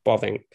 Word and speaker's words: Bavinck: first off i the the best way i think most brits would be able to pronounce his name is bobbink um and i'm sure